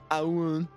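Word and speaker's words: Ioun: How you spell that? I-O-U-N. Ayun.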